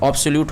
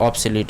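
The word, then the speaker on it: obsolete: ठीक है, ऑब्सोल्यूट होता है ये OBSOLET, ऑब्सोलीट इसको कहते हैं।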